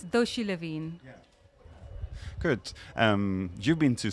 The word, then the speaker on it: Doshi Levien: It's Doshi Levien.